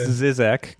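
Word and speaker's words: Žižek: you were saying all this it's pronounced it's pronounced zizek go on but i just like most those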